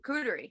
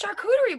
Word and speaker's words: charcuterie: is the shark shooter cootery sure cootery board it's not cute oh no i'm just gonna eat it it's charcuterie board oh chartshooter reward that's